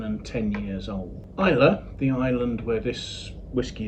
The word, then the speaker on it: Islay: that are between 7 and 10 years old Isa the island where this whiskey is produced I it's pronounced Isa although it's spelled iay is the southern most